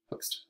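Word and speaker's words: Hoechst: is the nucleus so it's a hooks hooks stain um that's how you pronounce it hook hooks i had to look it up uh so it's blue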